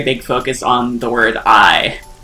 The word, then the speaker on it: AI: focus on the word I like literally the word AI in the in the title is pronounced I and it's actually a pun they they kind of